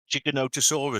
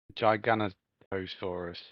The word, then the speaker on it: Giganotosaurus: o t o so it's like Giga as in gigabyte yeah Noto no and then sorus they were very scary